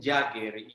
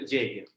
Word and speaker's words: Jaeger: ser como algún problema por algún tiempo estuve pronunciando lower dir jagger y algunos vídeos demás creo en la internet pues hay distintas maneras de llamarlo pero entonces creo que la pronunciación que más puede acercarse a la alemán originales werner hoyer entonces estaremos hablando de